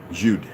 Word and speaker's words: Jude: pronunciation the Germans Judah Jude is the German equivalent of the English Jew the J in the German Jude is pronounced exactly like the English Y and yes Youth and